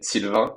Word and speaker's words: Sylvain: We say Sylvain, but Oh, the un is not a real for English people. That's not easy to pronounce.